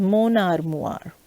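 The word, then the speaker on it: mon armoire: this is moon armoire there is a lyson here so it becomes monar moir okay again i give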